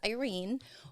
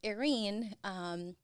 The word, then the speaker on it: Erene: A lot of people will pronounce it as Irene or Erin, but it's Erene. Think of it as air and then Erene.